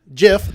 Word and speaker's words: GIF: Now, the GIF, the soft G is the right G.